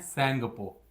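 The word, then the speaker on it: Tsangpo: Brahmaputra river को हम लोग तिब्बत रीजन में कहते हैं सेंगपो। बेटा टी साइलेंट रहता है यहां पे।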